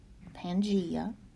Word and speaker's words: Pangaea: okay the next term is Pangaea and that's pronounced to pan G Pangaea Pangaea was the last supercontinent on earth and